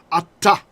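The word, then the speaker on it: אתה: And so in biblical times, it wasn't pronounced like we say now. We say ata. It would have been ata. You'd hear the two tavs, right? Ata, because the enta became ata.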